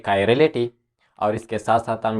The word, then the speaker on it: chirality: हमारा जो टॉपिक है वो कायरलिटी, यानी ये प्रोनाउंसिएशन कुछ इस तरह है, कायरलिटी।